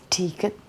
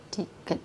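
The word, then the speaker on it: 디귿: 3, diget ya, D. Kita bacanya, mereka bacanya ini diget ya.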